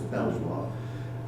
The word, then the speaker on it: Belvoir: You've got companies like Belvoir, I know it should be pronounced Beaver, but I don't think a lot of people got Beaver, so it has to be pronounced as Belvoir.